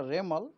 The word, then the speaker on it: Remal: रेमल pronunciation होगा रेमल, उसका spelling है REMAL रेमल।